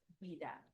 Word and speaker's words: Ouida: And it's Ouida, by the way, just Ouida. Just Ouida. Yeah. Won't pronounce the O, but no, yeah, I appreciate it.